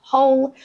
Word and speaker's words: whole: The exceptions are who, whom, whose, and whole, where the W is completely silent and you just start with the H sound.